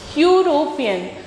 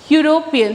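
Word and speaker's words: European: आ रहे हैं यूरोपियन यूरोपियन तो इसमें भी क्या आ रहा है यू आ रहा है तो साउंड क्या आ रहा हू यूरोपियन तो साउंड वाई यू आर आ रहा है तो इसमें क्या हो जाएगा?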